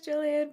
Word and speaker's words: Gillian: I always forget if it's a hard or soft G. I think she said it was Jillian, but now you have me second guessing myself.